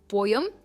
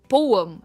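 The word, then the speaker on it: poem: पोएम। यह गलत है। इसकी सही प्रोनंसिएशन है पोम। पोयम एंड नॉट पोएम आप डिफरेंस देखिए पोएम पोयम पोयम यानी कविता नेक्स्ट वर्ड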